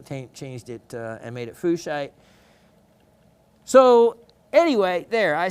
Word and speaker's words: fuchsite: The actual pronunciation of the person's name it was named after makes it pronounced as fuchsite. Like fuchsite.